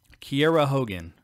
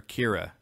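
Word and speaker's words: Kiera Hogan: I gotta say that Kiara Hogan the correct way to say her name everyone keeps calling her Kiera Tessa Blanchard called her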